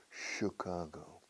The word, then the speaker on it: Chicago: Chicago no notice pronunciation we don't say Chicago Chicago no Chicago sure like should Chicago should Chicago be